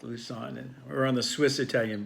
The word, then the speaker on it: Lusann: and your name is am i pronouncing that correctly Lu's son okay like loose on and or on the